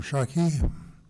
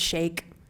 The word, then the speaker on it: Shake: Noor Shaki, be followed by Sarah Murphy. And correct me if I pronounced the name wrong, I'm sorry. Oh, it's Shake. Shake, Noor Shake.